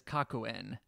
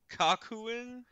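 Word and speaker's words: Kakuen: the official the like quote official name is kakuhen kakuhen yes hold on I have a picture here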